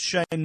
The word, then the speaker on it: Cheyne: And it's Shane Moresby. How do you spell that?